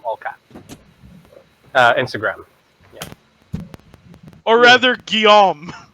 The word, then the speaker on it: Guillaume: Or rather, Guillaume. Guillaume. Guillaume. If you want to piss me off, fine, Guillaume. Guillaumer.